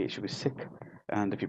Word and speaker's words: Sikh: if you pronounce it correctly it should be sick and if you pronounce it within the English tongue it's the Sikh but if you look at the traditional Punjabi